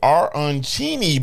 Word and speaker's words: arancini: We got the arancini balls, and they have what? that arancini. They Yeah, have there they have the pronunciation on their website.